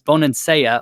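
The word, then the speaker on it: Bonansea: impressed with Bonin Seiya I got her name wrong in the past it's Bonin Seiya on Italy impressed with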